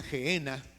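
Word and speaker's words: Gehena: N a, o sea, N a y se pronuncia genena esta palabrita.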